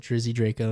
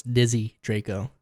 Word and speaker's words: Dizzy Draco: You said Drizzy Draco. It's Dizzy Draco. Is it Dizzy? Yeah. There's not an R in there?